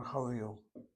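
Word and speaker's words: חליל: It was common, and it's called a Khalil. Again, CV is the first syllable, second syllable is CVC. Playing the Khalil.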